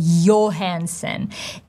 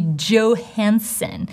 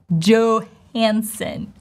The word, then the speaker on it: Johansson: last name would be Johansson, right? O diphthong in the last name. O enthon. Johansson. You probably thought, what did she say? I just withdrew the consonant sounds, right? Johansson.